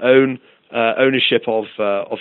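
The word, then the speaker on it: pwn: in in hacker jargon it's spelled p WN for own uh ownership of uh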